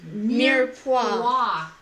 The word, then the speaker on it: mirepoix: It's like mere, like meerkat, and pois, like pois.